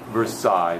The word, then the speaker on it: Versailles: Versailles. That's all right. There are. I just wanted to put it on the video so you could hear it. So it's just simple Versailles. The L is not pronounced.